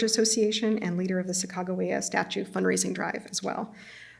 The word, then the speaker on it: Sacagawea: Sacagawea, and here I'm using the kind of Mandan pronunciation that I was taught at Lewis and Clark College. Sacagawea by Alice Cooper reflected